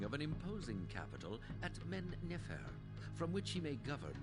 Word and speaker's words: Men-Nefer: has ordered the founding of an imposing capital at Men-Nefer, from which he may govern this fledgling nation. Men-Nefer. I think I've been pronouncing it Men-Nefer, so I have had the emphasis on the wrong syllable.